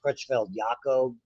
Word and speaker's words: Creutzfeldt-Jakob: We get one that is inherited, which is unusual, called, it's pronounced Creutzfeldt-Jakob.